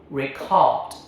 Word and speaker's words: record: As a verb to capture audio, second syllable, record. Record. I will record a song. Say it with me. Now, record. Verb, record. Okay.